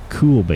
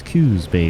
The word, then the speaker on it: Coos Bay: yeah we're right in Coos Bay what would you look at that um almost like cools Bay I guess it is a cool area to be but it's not cool Bae it's Coos Bay there Prime get that